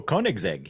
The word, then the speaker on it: Koenigsegg: Oh, Koenigsegg, yeah.